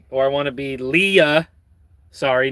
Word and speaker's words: Leia: Oh, can you repeat it and pronounce Leia Leah?